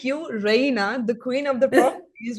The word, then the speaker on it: Rayna: it's really nice meeting you Rina right Raina Raina okay Raina Raina yes yeah it's um so